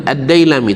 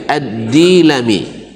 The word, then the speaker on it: Ad-Dailami: Yang benar bacanya bukan Ad-Dailami, tapi Ad-Dilami.